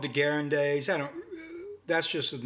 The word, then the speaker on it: Degas: Yeah, it's called Degas.